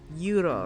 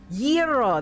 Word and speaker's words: gyro: Oh, I always pronounce it wrong. It's euro, right? Oh, I don't know. I'm probably pronouncing that wrong. I feel so bad. Gyro, that is it.